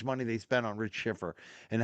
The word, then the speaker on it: Schiffer: It's not Shepard. It's Schiffer.